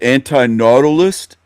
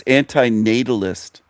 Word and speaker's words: anti-natalist: He calls it anti-nautilist. It's anti-natalist. natalist.